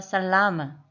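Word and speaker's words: salama: 예를 들어서 살라마에서 A는 아 소리가 나서 살라마가 되는 거죠.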